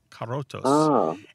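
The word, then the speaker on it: corotos: I guess I shouldn't have trilled that R. It's carotos.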